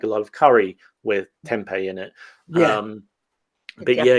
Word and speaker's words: tempeh: Temp I mean I I think we I grew up pronouncing it tempeh but I don't but it's Yeah. It's like um it's a traditional Indonesian food and it's fermented soybeans.